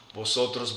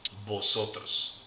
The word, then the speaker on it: vosotros: Vosotros, vosotras. Spelled with the letter V, but the V and the B in Spanish sound exactly alike, like a B.